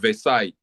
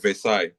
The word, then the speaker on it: Versailles: So the treaty is called treaty of Versailles. Versa is V. I'm I'm pronouncing it in French.